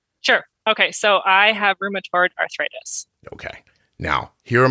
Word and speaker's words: rheumatoid: the correct pronunciation right rheumatoid right so room like room uh toyed like Altoid yeah and what do most people say rheumatory I just stumble over